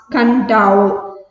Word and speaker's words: Kadavu: On the islands of Kadavu, pronounced Kadavu. KADAVU എന്നാണ് spelling എങ്കിലും അത് പ്രൊനൗൺസ് ചെയ്യുന്നത് എങ്ങനെയാണ്? കണ്ടാവു എന്നാണ് പ്രൊനൗൺസ് ചെയ്യുന്നത്.